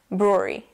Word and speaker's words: brewery: the the third syllable you have the another R sound which is a little bit more pronounced than the first sound Brew Brewery when you say it they all kind of mash together Brewery say it with me